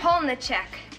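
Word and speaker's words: Polniaczek: I can't even pronounce the one they put me with. Joanne Polniazek. I hope she brings along an interpreter to help me with that name. It's Polniacek. The cast was reduced to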